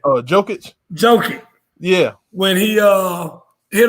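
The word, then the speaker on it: Jokić: But talk to me real quick, Herb, about your boy, what's his name, Jokovic or whatever. How you say his name? Jokic.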